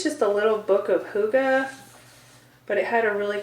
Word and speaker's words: hygge: of it so it's a danish concept called hygge it's pronounced hygge but it's spelled h-y g-g-e and i always want to say higgy but i'm not going to do it girl